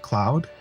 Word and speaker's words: Claude: and a claude's name they actually end up pronouncing it like cloud kind of I guess like the uh kind of masculine version of like Claudia but he's Cloud uh